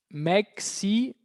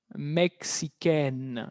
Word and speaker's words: mexicaine: Mexicaine. Mexicaine. Eso ella es mexicana. Cuidado el cambio de pronunciación. El sonido de la N se libera.